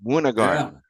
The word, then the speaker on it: Månegarm: I just learned how to pronounce it properly. Wagarm.